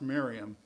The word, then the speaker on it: Mariamne: It looks like Mariamne, and it was probably pronounced Miriam.